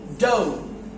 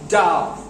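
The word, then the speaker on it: dough: ওকে সোফ বাফ এন্ড ডা sorry ডো কি হবে ডো বুঝা গেছে এটাকে এরকম করে বলে ও যেমন শো বুঝছো আচ্ছা ডো ডো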